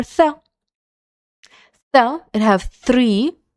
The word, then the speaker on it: ث: And letter tha. Tha, it have three letters, three dots on this letter, and it's three, and the pronunciation of this letter is tha, like the tha in three.